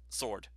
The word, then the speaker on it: sword: You don't pronounce the W on there, Megaman. I've never heard anybody seriously refer to it as a sword. It's just sword.